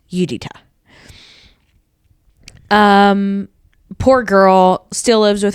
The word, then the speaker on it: Judyta: There is the detective who everybody calls Judy, but her name is Judita. Judyta, pronounced Judita.